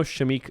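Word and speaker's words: Shameik: older the other option I had you know shamik I think it's high pronounce the name shamik Moore the voice for Miles Morales and spider-verse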